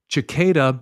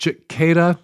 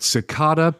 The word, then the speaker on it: cicada: to point out that cicada is pronounced with an S, not a ch. So, not cicada, as I pronounced it last week in the intro to the show, but cicada in the UK or cicada in the US, but no ch anywhere in the English-speaking world.